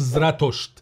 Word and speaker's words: زراتوشت: أما في اللغة البهلوية، لغة الإمبراطورية الساسانية، فقد كان اسمه ينطق زراتوشت.